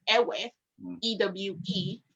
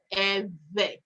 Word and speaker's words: Ewe: we say it is pronounced by creating a vibration sound uh with your pursed lips while you're forcing air out so the name is eve and that name became